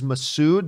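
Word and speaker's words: Massoud: it but i if i'm corrected again by a few people that it is masood then i will i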